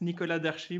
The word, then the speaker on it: Nicolas Darchis: joined with a very nice guy called mr nicholas duchess did i say that i pronounce that right yes yes so if you have to say it with the french porsche accent it's nikola darshi but anything is fine with me like